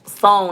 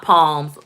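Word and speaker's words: psalms: burger flippers or something it's pronounced song not palms oh well i pronounced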